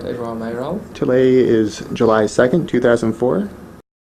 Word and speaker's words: Edouard Mayoral: Did I pronounce it correctly? That's right, Edouard Mayoral.